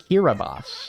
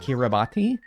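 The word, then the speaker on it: Kiribati: I think it's pronounced Kiraabas. Kiraabos, not Kiraabati.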